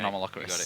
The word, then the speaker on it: Anomalocaris: So he's gone and got the card I can never pronounce. Anomalocaris. Anomalocaris. Yeah, Anomalocaris.